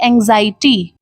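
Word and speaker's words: anxiety: तो ए एन एक्स से आपका साउंड मिलेगा एंग्स। एक्स से आप लोगों को थोड़ा सा गज वाला साउंड आएगा।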